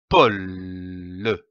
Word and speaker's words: pôle: syllabes donne le mot pôle comme un pôle attention ici à l'accent circonflexe on traîne le haut un pôle le pôle nous avons